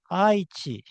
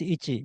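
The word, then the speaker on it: 一: For example, if you say ichi, you might say aichi. But if you find the Japanese character, which is this one, ichi, it is always pronounced ichi, never aichi.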